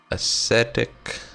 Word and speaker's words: ascetic: Ascetic, that is actually how it's pronounced.